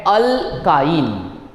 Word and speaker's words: alkyne: और triple bond वाले को हम बोलते हैं ALK YNE, ALKYNE, जिसको प्रोनाउंस किया जाता है अल्काइन।